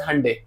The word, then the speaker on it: Hyundai: You pronounce it as Hyundai.